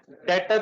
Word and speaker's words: debtor: इसके बेटा स्पेलिंग है, लेकिन बोलते 20 साइलेंट हो जाता है। डेटर 3 दफा बोलते इसे,